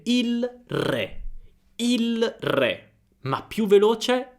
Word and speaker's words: il re: la R subito, quindi la L di il diventa R, quindi il diventa ir, per esempio, prendiamo re, se parlo lentamente il re. Il re, ma più veloce, il re.